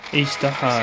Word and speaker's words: Azhdaha: But if you recall Azhdaha, Azhdaha, that's how you pronounce it, okay.